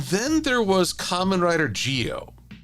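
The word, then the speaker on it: Zi-O: And then there was Kamen Rider Geo. It's spelled Z-I-O, but in Japan they seem to pronounce it as more of a G.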